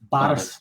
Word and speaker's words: Barras: Barras? It's Barras. You're close enough. From the north of Scotland, so we pronounce things a little bit differently up there.